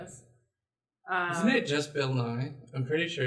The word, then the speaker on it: Nighy: I thought it was Bill Nighy. It could be, but I've only heard Bill Nye, not the science guy.